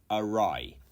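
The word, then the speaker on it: awry: segue anyway 28 uh is aai arai a not a or Ori or anything else it's arai and this means off course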